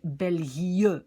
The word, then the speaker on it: België: Ok, on met deux petits points pour dire c'est België et pas Belgique. Donc ça, les petits points, ça veut juste dire, d'abord tu lis un i et puis un e.